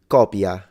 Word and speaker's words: copia: But the idea is that this is copia, and this is coppia.